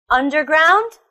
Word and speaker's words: underground: Motorbike, underground, holiday, family. They're all 3-syllable words with the stress on the first syllable.